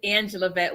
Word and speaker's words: Angelavette: bit about who you are and say the pronunciation of your first name correctly because I screwed it up so my name is Angela vet I am your purpose pushing machine